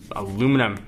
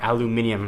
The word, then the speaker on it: aluminium: This appears to be aluminum, or aluminium. I know your folks in Europe always like to get on me for my pronunciation, back, but it doesn't feel true aluminum.